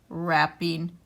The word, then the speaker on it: wrapping: we'll read it correctly his wrists hurt from wrapping the present and that way kids can hear that we do not say the w in w r words it is actually silent this is the template